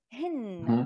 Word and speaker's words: rim: Like, but you're pronouncing it hin, like with an N, right? And like an A.